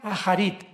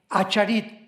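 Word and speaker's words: אחרית: Postreros es acharit, así como suena con CH, se pronuncia acharit, acharit. Y tiempos o días son yom, Y-O-M de mamá.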